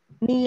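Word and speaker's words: knee: Ni là gì? Ni là cái E cờ. Cái đầu gối. Đầu gối nhớ là chữ K không đọc nhá, đọc là ni thôi.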